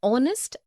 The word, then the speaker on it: honest: also an air an honest an hour because the words air honest and our begin with the vowel sound as the initial consonant h is not pronounced article 1 we use